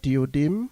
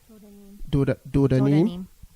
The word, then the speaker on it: Dodanim: And then we have Diodim, if I pronounce that correctly. Dodanim.